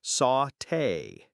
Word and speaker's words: sauté: It's pronounced sauté.